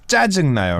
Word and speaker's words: 짜증나요: So it's 짜증나요, right? It's double 치읓. Yeah, you have to make it a little stronger.